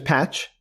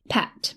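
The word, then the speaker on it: Phat: Wait, his name is Patch? Pat. P-H-A-T is how they typed it, but it's pronounced more like Pat.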